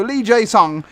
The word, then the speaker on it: Lee Jae-sung: since it in between two Swedish players so lee jae-sung once again not racist that's how you pronounce it one one there so here we